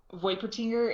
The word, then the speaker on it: Voipertinger: Voipertinger. It's basically a play on Void and Wolpertinger, which is like a mythical creature.